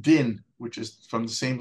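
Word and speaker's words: דין: is always equated with judgment or in Hebrews pronounced din which is from the same letters as Don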